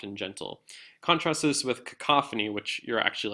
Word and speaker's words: cacophony: And I'll go through them really slowly. It's euphony and cacophony.